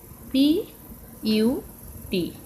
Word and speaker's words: put: P U T. P U T, this is put. This is put. Here U is pronounced as U.